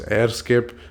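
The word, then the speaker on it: EHRScape: gonna google EHR Escape I think it's supposed to be pronounced as airscape these people just like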